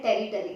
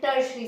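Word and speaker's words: tertiary: बहुत से लोग इसको प्रोनाउंस करते हैं टेरिटरी, जो कि बिल्कुल गलत है। टेरिटरी इज the wrong pronunciation. मेरे कई स्टूडेंट्स के मुंह से मैंने सुना था और दे सेड कि उन्हें उनके किसी टीचर्स ने बताया था। अगर आप में से भी कोई इसको टेरिटरी प्रोनाउंस करता है, सो लेट me correct you, इट इज टर्शरी।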